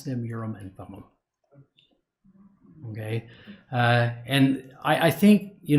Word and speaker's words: Urim and Thummim: two of the very best I've seen I pronounce them Urim and Thummim okay and I think you know Joseph himself